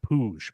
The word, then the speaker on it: Puig: It's pronounced Puig, but yeah, he is.